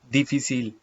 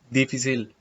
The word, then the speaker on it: difícil: Please note that in chapter 1, I have told you that when C comes before the vowel I and E, in Castilian Spanish, it is pronounced as th, th. And the same word, when C comes before the vowel I and E, it is pronounced as, in Latin American Spanish, as s, s. In Latin American Spanish, it is pronounced as difícil, difícil.